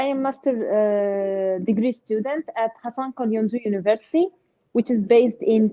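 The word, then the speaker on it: Hasan Kalyoncu: so can you tell us how do you pronounce the university's name yeah so i am master degree student at hassan konyondo university which is based in turkey okay and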